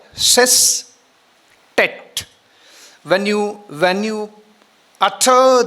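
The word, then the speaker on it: sestet: Octave is easy for us to pronounce. But the next one s e s t e t cet. If you don't practice in a right way, you make it pulkate. Instead of saying, you say pulkate.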